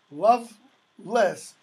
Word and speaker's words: Lovelace: Cathcart lovelyz's love-interest notice by the way love less is how Lovelace is pronounced how much love does